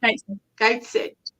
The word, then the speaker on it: Gateshead: I live in Gateshead, which is pronounced Gateshead. Gateshead. Gateshead. Right, she lives in Gateshead, which is pronounced short.